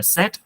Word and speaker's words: said: cho một điều là SAID này phát âm là said, âm e nha mọi người, chữ e đó, chữ e hột me đó.